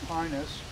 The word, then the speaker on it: pinus: pine trees the genus pinus uh In classical Latin pronunciation the long i becomes long he and then how can